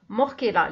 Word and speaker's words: Morchella: Ça s'écrit avec un CH, ça se prononce Morchella, les morilles.